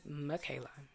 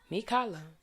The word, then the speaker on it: Mikala: name they've called me michaela because my grandmother named me mikala but that's the thing it looks like makayla and whatever language i guess english and language is going to be pronounced that way but it is a hawaiian name so mikala is how it is said and my grandmother put